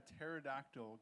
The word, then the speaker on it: pterodactyl: Why can't you hear a pterodactyl go into the bathroom? Cuz the P is silent.